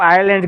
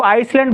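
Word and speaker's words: island: Group of आइलैंड के साथ इस्तेमाल, इसको आइसलैंड पढ़ते हैं अक्सर लड़के। आइसलैंड नहीं होगा, ये एस साइलेंट होगा, आइलैंड होगा। ये आइलैंड, एस यहाँ पे साइलेंट होगा।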